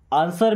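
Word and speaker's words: answer: आंसर मी। दोस्तों इसे आंसर नहीं पढ़ते। यहां पे डब्ल्यू साइलेंट हो जाएगा।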